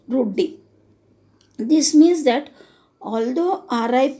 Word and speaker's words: routed: That is a process running in the background named routed, abbreviation for root daemon and pronounced root D.